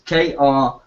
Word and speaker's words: Kripke: It's hard to spell, well, it's hard to pronounce, but it's Kripke.